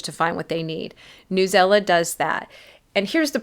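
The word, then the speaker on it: Newsela: it's NE WS EA some people pronounce this news Ela I try to get my pronunciations from the websites of the tools themselves and listen to their videos and how they say it they say newella so I'm saying newella this is what I'm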